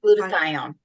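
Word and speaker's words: glutathione: um gluta how do you say that glut glutathion there you go so those are the ones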